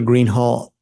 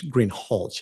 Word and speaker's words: Greenhalgh: thank you your honor officer Greenhall I believe I'm mispronouncing your name it's green hch isn't it correct okay I apologize